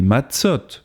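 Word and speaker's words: מצות: On dit une matzah et des matzot au pluriel.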